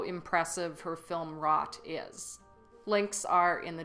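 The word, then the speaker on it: Wrought: I just made a film called Rot, and you can watch it on YouTube or Vimeo. It's spelled W-R-O-U-G-H-T.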